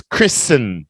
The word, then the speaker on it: Kristen: Okay Christian okay no that's not Kristen the word up here is Kristen just like listen silent T down here Christian ceremony